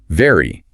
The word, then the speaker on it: very: To make the V sound, your top teeth must physically touch your bottom lip and you vibrate your vocal cords. Very. You should feel a slight buzz on your lip.